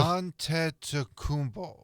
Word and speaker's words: Antetokounmpo: Well, I had to I had to wait to Antetokounmpo.